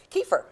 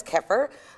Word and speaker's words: kefir: the right hand side we have Kiefer also known as kefir I kept for key for whichever way you want to pronounce it has two billion bacteria